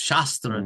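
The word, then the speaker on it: śāstra: Sanskrit library of texts shastra text scriptures. There's two words in Sanskrit shastra and shastra. Shastra with a long a with there's a line over the a shastra refers to wisdom teachings.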